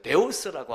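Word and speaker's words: θεός: 그러면서 이제 우리가 이제 가드라고 하는 god를 쓰고 그러는데 데오스라고 하는 단어로도 나옵니다.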